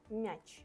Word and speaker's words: м'яч: М'яч, yeah? Hard m, not мяч, мяч, no.